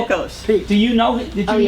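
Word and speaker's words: Voulkos: Volkos.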